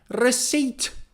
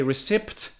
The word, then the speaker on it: receipt: or another example is receipt receipt receipt receipt it's one of the commonly mispronounced words some students say recipt but the p is silent so you should say